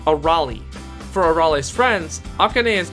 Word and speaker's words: Arale: it's on her clothes but is pronounced a rally for arale's friends akane